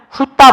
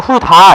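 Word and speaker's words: 훑다: 여기에 있는 예문을 보자면 훌따 볼게요. 훌따. 자, 훌따 이랬어요. 훌따. 자, 훌따 발음하면 그래요. 훌 맞아요. 근데 발음이 따가 돼야죠. 따. 훌따. 우리가 훌다 이러진 않잖아요. 훌다. 이상하죠? 훌따로 가야지.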